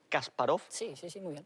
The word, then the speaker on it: Kasparov: alguien no al ajedrez no a kasparov se pronuncia así kasparov pues no se lava mucho el pelo por